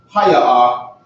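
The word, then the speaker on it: היא: As opposed to haya-ah.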